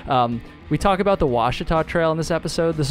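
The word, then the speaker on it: Ouachita: incorrect and so yeah it's the Washita Trail not the Wichita Trail cringe every time you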